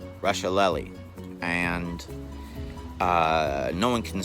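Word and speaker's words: Rusciolelli: L e ll I it's pronounced SpaghettiOs nope Russia lolly and no one can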